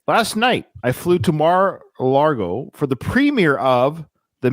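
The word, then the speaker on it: Mar-a-Lago: had to say last night I flew to Mar lgo for the premere of the man you don't know about Donald Trump Mar Alo thank you I thought I was saying it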